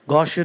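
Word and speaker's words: gaucherie: gosh also means socially inept socially inept clumsy Gosher is the noun form G a u c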